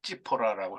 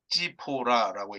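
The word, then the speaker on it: צִפּוֹרָה: 아내 아내가 이제 십보라죠 근데 이제 우리말로는 10보라고요 히브리말론 지퍼라라고 합니다 발음이 좀 지포라라고 이렇게 하는데요이 안에는 아마 돌려보냈던 것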